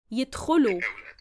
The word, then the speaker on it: يدخلوا: يدخلوا. Now here the alif at the end is silent.